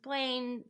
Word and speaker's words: Blayne: I was like, it's like it rhyme, Lane rhymes with Blayne.